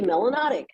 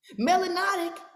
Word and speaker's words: melanotic: system you must be melanotic which rhymes with exotic and is in the dictionary you can't tell me that her ass ain't still a third grade got damn pizza melanotic and it rhyme with